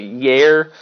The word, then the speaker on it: YAIR: So the first one, I think, which I am extremely excited about, is I hope I pronounced it correctly. Yair.